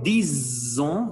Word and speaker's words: disons: Nous disons, voilà la prononciation du S.